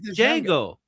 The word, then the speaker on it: Django: Did you just say Django? No, it's Jjango. There's no Jango like Jango Fett like Janget. Yeah, the D is silent.